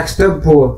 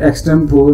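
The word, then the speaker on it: extempore: ना वो वही है, लेकिन ये एक्सटेम्पोर जो है ये सही प्रोनाउंसिएशन नहीं है बेटा, ये है एक्सटेम्पोरी, आपने चेक करना है। मैं आपको बार बार कहता हूँ कि डिक्शनरी जो है वो जरूर कंसल्ट किया करें, हम लोग जो है वो गलत प्रोनाउंस करते रहते हैं सारी उम्र ही। तो इट इज नॉट एक्सटेम्पोर, इट इज एक्सटेम्पोरी, आगे ई जो है वो प्रोनाउंस करते हैं।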